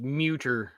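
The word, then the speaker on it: Mütter: So Raven says it's pronounced Muter, and Mute her.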